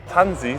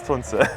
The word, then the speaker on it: Tunze: And as Roger just said, it's Miele, Porsche, Tunze. But I'm used to pronounce my name Tunze somehow. So in most of the videos I will do it wrong, but actually it's Tunze.